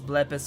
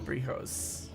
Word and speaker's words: Blepis: I will just FYI remind everyone that my name is Blepis here. It's not Brihos.